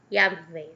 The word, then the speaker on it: Yahvé: a palavra Jeová, né, que hoje pronuncia correta Yahvé, né, e parece escrito da Bíblia Jeová, mas porém isso aqui os judeus não acreditam, tá certo?